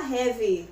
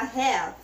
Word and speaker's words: have: Lembra que a gente não vai pronunciar a letrinha I no final? Não fala have, fala have. Letra V, right?